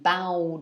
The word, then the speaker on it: bow: the verb form the pianist stood up and bowed to the audience okay bowed is the past